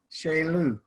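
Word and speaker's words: ᏎᎷ: is how we write corn and it is pronounced shea lou okay at the count of three i don't i need you to follow me please sheila i forgot to count didn't i uh i'm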